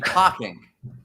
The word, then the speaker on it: talking: You mean talking? Oh, talking. Got it. Talking, which rhymes with walking.